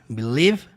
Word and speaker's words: believe: E aí depois we believe you percebe que a palavra acreditar você não fala believe isso aqui não tem som no final a palavra termina no som do V Believe som do V